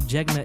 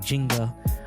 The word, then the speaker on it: Jegna: A lot of people pronounce it like Jenga, but it's not that board game.